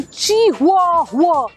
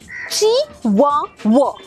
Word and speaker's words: Chihuahua: तो कहते हैं चिहुआ। अरे नहीं, the breed is called चिवावा। इट्स अ चिवावा, चिहुआ नहीं, चिवावा।